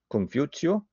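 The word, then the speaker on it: Kong Fuzi: Kung Futio, I'm certainly mispronouncing that, but Confucious is how we say it here.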